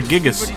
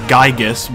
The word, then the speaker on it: Gigas: Oh, it's a Gigas. Something I have always pronounced as a Gigas, but apparently it's Giga, not Giga.